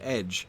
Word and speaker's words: ecg: that's why the for the word ECG is pronounced edge and it is essentially the same word as